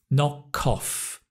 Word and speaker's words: knock off: If a word, like knock, ends in a consonant sound, k or a k, and the following word begins with a vowel, like off, o, we often link the k and the o. Ko, knock off.